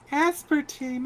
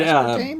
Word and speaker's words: aspartame: Is it But, aspartame or is it aspartame? Aspartame. Aspartame. Are we pronouncing the same word two different ways? Because it's aspartame. Okay. Yeah. I think it's funnier if you say aspartame, but okay.